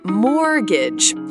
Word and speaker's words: mortgage: Remember, we say mortgage. Don't pronounce the T.